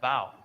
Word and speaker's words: vowel: a diphthong and a diphthong is basically two short vowel sounds that slide together pittsburghers love to shorten diphthongs into monophthongs so the words vowel and vile are actually pronounced bow so bird poetry is